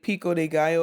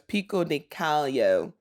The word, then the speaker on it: pico de gallo: The contestants and even Judge Paul Hollywood were mispronouncing the name guacamole and said guacamole and pico de gallo as pico de callo.